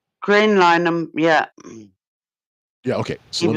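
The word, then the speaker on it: Graham Linehan: Graham Lineham, yeah.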